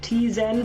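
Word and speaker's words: Tzen: the meso yes and some people say like t zen for example instead of zen yeah it's sent that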